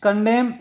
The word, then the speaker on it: condemn: विच कंडेम, हाँ, यहाँ N silent, which कंडेम these children to अ